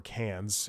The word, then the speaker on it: Cannes: you don't know the Khan film festival or Cairns as the regular person calls it but I think it's pronounced Khan I don't give a